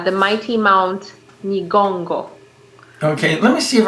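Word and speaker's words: Nyiragongo: Is that Nigongo. It's an NY to start.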